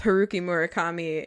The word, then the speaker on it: Haruki Murakami: name, I'm sure that he would say it's Haruki Murakami, you fucking idiot.